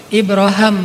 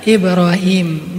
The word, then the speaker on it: Ibrahim: Kalau dalam salah satu qiraat itu bacanya Ibra Ibraham. Makanya orang Inggris nyebutnya Abraham. atau bisa juga dibaca Ibrahim.